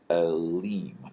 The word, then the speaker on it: Elim: Now the plural form of this is Elim. This is a long E sound with this vowel mark and the yod and then the final mem.